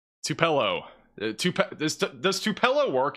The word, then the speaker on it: Tupelo: Tupello. Tupalo. Everybody's giving me a pronunciation that's different. Tupelo. I'm just going to say Tupelo. I think that's it.